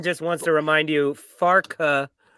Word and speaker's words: Farke: And Pincushion, Ian just wants to remind you, Farke has 2 syllables, Tom, and I know that because I had the closed captioning on, and it kept saying Parker.